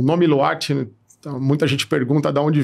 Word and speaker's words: Lwart: O W dali toda, né? Exato, um T mudo no final. Então, pronúncia diferente.